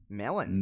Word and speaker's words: Mellon: in Pittsburgh Mellon yet Mellon Emmy double N double n Menem Emmy double l o n melon melon never heard of